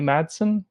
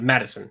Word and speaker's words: Madison: I think the lead actress, is it Mikey Madsen? Is that how you say it? Madison. Yeah. Madison, Mikey Yep. Madison.